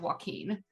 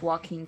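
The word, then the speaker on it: Waukeen: check that's both like joaquin phoenix no it's spelled w-a-u-k-e-e-n i believe okay um let's see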